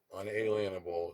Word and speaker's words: unalienable: have certain unalienable rights unalienable is how it's pronounced but i think it's on a lean a bowl among which of those